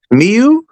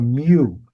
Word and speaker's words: Mew: Meu. Is it a Mew? Jesus Christ. How do you say it? Got a Mew. It's a Mew.